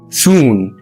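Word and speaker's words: schön: التاني مع بحروف خاصه حرف الاو وعليه نقطتين بس بتنطق او او بيبقى مضموم شويه سون بقشبيل شون شون يعني جميل الحرف الثالث مع الحروف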